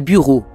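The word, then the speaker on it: bureau: siècle voici quelques exemples Bura égale buau le y se prononce comme un U brochure égale brochure costume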